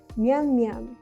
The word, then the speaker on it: 绵绵: تلفظ آن تقریباً مانند گفتن سریع «میان میان» است.